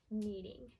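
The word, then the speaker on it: kneading: and that is called needing needing so here the K is silent we do not say that K need alright that is all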